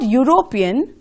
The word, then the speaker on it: European: european football player here the word european sounds like you the beginning of european when you say european you say you right and again it begins with the consonant sound y and so we have